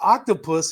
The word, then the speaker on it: OQTOPUS: Previously, universities and companies had to develop extensive custom software to enable cloud-based quantum computing with Octopus. And again, that's spelled OQ T O P U S if you're going to look it up.